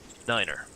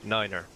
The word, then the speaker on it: niner: And 9 is said like niner. So, tree, 5, and niner.